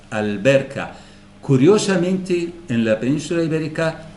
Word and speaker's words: alberca: se pronuncia en cambio Si es una letra lunar como la B por ejemplo la l se pronuncia digo alberca alberca alberca curiosamente en la Península